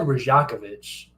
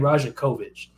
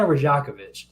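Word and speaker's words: Rajaković: The commentator said Rajakovic, which is weird. I was saying Rajakovic, but they were saying Rajakovic.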